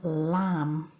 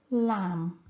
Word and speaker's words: lamb: we have the word lamb and here it's the letter B at the end which is silent lamb there's also a silent